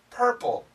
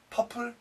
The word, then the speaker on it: purple: For, turkey, birds, burgers, purple. I'll say it wrong. For, no. For, tucky, no. Turkey, buds, no, birds, bogos, no, burgers, purple, no, purple.